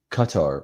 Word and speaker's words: Qatar: Qatar rhymes with Tucker.